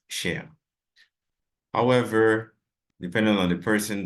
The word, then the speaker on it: cher: in French right and despite whatever form it takes it's always pronounced share however depending on the